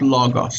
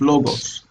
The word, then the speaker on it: logos: unnatural to the language it's not Lagos it's logos you know what I